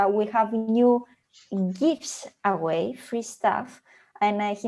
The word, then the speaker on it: GIF: And he makes it sound like it's gifts, but it's not, it's gifts. Or GIFs, no matter how you want to call it. I believe the right pronunciation is GIF.